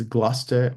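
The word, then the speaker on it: Gloucester: s t r uh there's gluster which is the same way which is spelled g l o o u c s r or some semblance of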